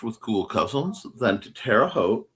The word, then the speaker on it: Terre Haute: Going tomorrow to to have some lunch with cool cousins, then to Terre Haute, rhymes with boat, on Sunday with them for some time with Daniel.